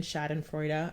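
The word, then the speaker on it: Schadenfreude: you want to like if you believe in chad and freuda i think that's how you say it that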